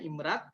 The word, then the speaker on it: IMRaD: brainly standar internasional ya imread imrd ini imrad yakni bootnya bacanya imrad nah temen-temen yang masih